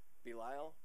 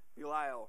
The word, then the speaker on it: Belial: how to pronounce that anybody know how to pronounce that word Belial there we go was it yeah Belial so or what portion does a Believer share